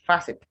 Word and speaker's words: facet: and then we have facet facet so it's not faces it's facet hotel not hotel it's hotel